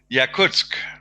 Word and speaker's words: Yakutsk: Can't pronounce it. And it was Yeah. how do you say it? Yakutsk.